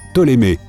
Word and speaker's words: Ptolémée: Pardon, en fait son nom se prononce Ptolémée. Apparemment, on ne prononce pas le P.